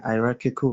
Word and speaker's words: hierarchical: I pronounced that well what do you get it like hierarchy yeah hierarchical mentorship yeah you pronounced it correctly okay when I when